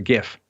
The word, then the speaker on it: GIF: So you're on Team GIF, not Team GIF? I got to tell you, because it's graphics interchange format, I got to go with the hard G.